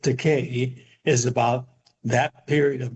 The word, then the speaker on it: Takei: And this book, It Rhymes with Takei, is about that period